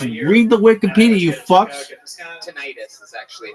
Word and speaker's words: tinnitus: Tinnitus is actually how that's pronounced.